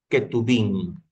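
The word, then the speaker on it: Ketuvim: La ley, que significa la Torá, los cinco libros de Moisés, los profetas que se lo pronuncia como neví y los escritos que es ketubín.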